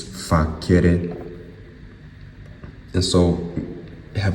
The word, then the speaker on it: facere: If you pronounce it with a hard C, it's facere.